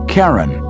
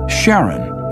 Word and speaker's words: Charon: christie suggested the name karen after the ferryman of Pluto's underworld in greek mythology but preferred to pronounce it sharon more like his wife's name charlene from the motions of